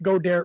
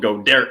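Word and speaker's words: Goedert: of choice to pass to they've already lost go dare for the night and yes that's alex got her but on this show he's called go derek because we can't pronounce anything um yeah so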